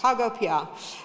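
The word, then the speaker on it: PagoPA: at pigo am I saying it righto yes pgo um which is the national payments platform in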